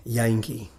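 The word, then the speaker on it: Jantjie: So it's spelled J-A-N-T-J-I-E. Wow. Yankee is the Yankee. Song's name. I wouldn't have guessed a T in there.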